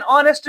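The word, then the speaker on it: honest: ही इज एन ऑनेस्ट मैन।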